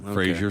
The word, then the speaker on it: Fraser: i know is brendan fraser so a uh it's pronounced fraser fraser fraser yeah so not like frasier not yeah not like